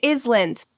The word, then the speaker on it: island: The eth sounds in the and other, the silence in island.